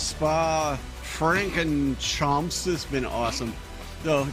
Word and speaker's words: Spa Francorchamps: YouTube channel, and it's like, so it's very French, right? It's Belgium, but it's a very French word. So it's like Spa Francorchamps is basically how they do it.